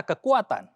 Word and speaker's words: kekuatan: Kata-kata kekuatan.